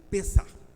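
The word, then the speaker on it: פסח: sempre é bom relembra Páscoa no hebraico ela ela se escreve né se pronuncia pessar pessar que significa passar por cima passar pelo alto aliás esquecendo de uma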